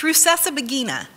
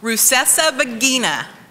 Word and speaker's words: Rusesabagina: It's Rusesabagina. Say it with me. Rusesabagina.